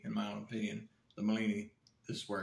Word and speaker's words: Malini: quick review here on the Milani egg bag you get the instructions I'm sorry molini egg bag Malini egg bag to be proper pronounce it properly and stuff okay so